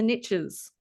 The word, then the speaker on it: niche: Americans always say the riches are in the niches when it's pronounced niche, mate.